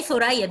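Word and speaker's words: ثريا: We have a tha والظاء والذال, لكننا we pronounce them as se, zal, za. We never pronounce them in a correct way. But I have been, let's say, for 5 or 6 years in Arabic, I pronounce them in such a way. Even when I talk to someone in our daily talk, they look at me like this. You say Thuraya? Yes, I say Thuraya because I'm trying to practice this.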